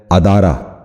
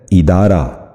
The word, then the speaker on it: ادارہ: درست تلفظ ہے اخلاق۔ آج کا تیسرا لفظ ہے ادارہ، جو غلط تلفظ ہے۔ درست تلفظ ہے ادارہ۔ دوبارہ سنیے، درست تلفظ